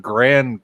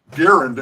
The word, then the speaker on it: Garand: see the M1, the Grand clips, because there's 5 to a clip there. So. Yeah, there's the Grand across... Garand, actually, it's Garand. I finally learned how the man pronounced his name Garand.